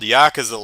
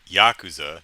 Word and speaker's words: yakuza: i try you know i try and say tokyo not toke eo you know and yakuza not yakuza i don't expect perfection